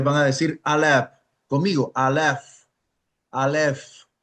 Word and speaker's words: Alef: Alef. Alef. Esa alef se pronuncia alf.